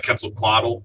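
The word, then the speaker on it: Quetzalcoatl: was a kid I was interested in uh quetzal coddle I think I pronounced that right yes yeah the uh the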